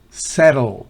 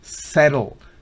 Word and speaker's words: settle: Fíjense que después de la T hay un simbolito. ¿Qué significa ese simbolito? Ese símbolo pequeñito significa que hay como una ligera E. Settle, no es settle, no, settle. Pero ahí hay una especie de E pequeñita, inevitable prácticamente.